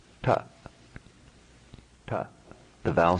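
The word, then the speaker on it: ट: Ta. Ta. The tongue is further back then we would be accustomed to be pronouncing a similar T sound in English. So don't confuse this with the English T.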